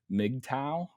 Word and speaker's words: MGTOW: you are investigating uh an internet cult named mgtow yeah that's how you say it but before